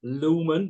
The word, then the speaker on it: Lohman: So it's pronounced lumen, like the lu.